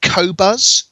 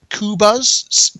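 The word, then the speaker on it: Qobuz: a French site with the curiously hard to pronounce name of kobas kubas q-o-b-u-z um they've been around for some years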